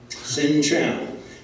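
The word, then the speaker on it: xin chào: the language now sinow X indn Ames is pronounced like an S commit a sin Chow is like what the Navy people eat sin Chow that is hello good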